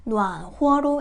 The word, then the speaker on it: 暖和: 그래서 따뜻해 이 글자가 병음이 없다고 해서 여러분들이暖和로 읽지 않고 暖和로 읽어주셔야 합니다. 이 글자도 허와 호 발음이 있고요.